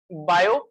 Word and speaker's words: Biot: the next topic is bio servers low T is silent in biota so yes proportional DL